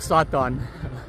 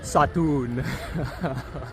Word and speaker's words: Satun: or Satan, but it's pronounced Satun.